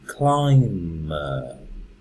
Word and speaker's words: climber: And even here, the person who climbs the mountain is the climber. So you never say the B, the B. Climber.